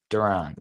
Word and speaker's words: Duran: And it's not it's not Durant. It's Duran.